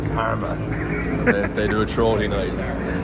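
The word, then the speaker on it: Jarama: It's spelled jarma, but I presume it was yarma, but I think it's karma.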